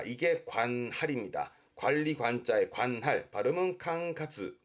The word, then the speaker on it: 管轄: 관리 관자의 관할은 캉카즈. 캉카즈.